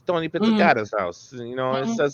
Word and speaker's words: Pizzicato: you come up with the piccata it's Pizzicato get it right you goon well